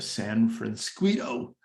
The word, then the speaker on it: San Francisquito: tell us about the San Francisco rhymes with Mosquito Creek Authority yes all